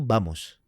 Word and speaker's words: vamos: Oh, misalkan nih kalau kalau misalkan yang paling sering tuh misalkan kayak vamos. Vamos. Ah, itu sebenarnya bacanya tuh Bamos. V. V itu jadi B.